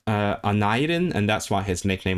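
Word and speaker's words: Aneurin: So, I suppose because it's a Welsh name. It's in my accent of Welsh that would be Anadin, but I suppose where he's from, which is Tredegar, right? That would have been pronounced Anadin, and that's why his nickname was Nye.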